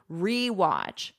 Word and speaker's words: rewatch: And notice for pronunciation "re". I'm not doing like a schwa sound. "ra" watch. American pronunciation, we love our unstressed schwa sound, in our throat. Here, but I'm not doing that. This is a full "e".